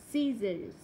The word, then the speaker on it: scissors: Ok, C không được phát âm trong âm ghép C. SC muscle scissors.